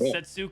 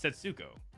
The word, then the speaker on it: k3so: up set me up it's setso how how do you say your name how do you say your name it's setsuko no it's setso what like oh yes